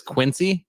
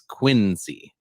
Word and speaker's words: Quincy: So it's John Quincy Adams, or everybody says Quincy. It's Quincy. Yeah. The way you pronounce it is really weird.